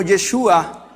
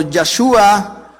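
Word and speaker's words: ישוע: audible, del hebreo original, que se pronunciaba al igual como Yeshua, o como Yashua, o Yahshua.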